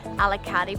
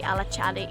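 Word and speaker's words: Alaçatı: At least in Turkey, like we would say sesame, but it would actually be chesme, or alakati, but it would be alachadi.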